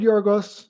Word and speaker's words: Yorgos: Hey, I remembered Yorgos. Remembered how to pronounce it. Not bad, huh? You know how it is with us Americans trying to pronounce that J with a Y sound for us.